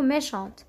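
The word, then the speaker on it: méchante: اللي نزيدوها لو فيمينا ميشون ميشون هذه سهله نرجعوها ميشونت هنا الأو ما كانش تي ما كانش تنطق كي زدنا الأو تتنطق ونقولو ميشانت صح هنايا كان عندي تتكمل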